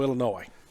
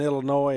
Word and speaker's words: Illinois: uh generally i go illinois okay the s in illinois is silent it is that would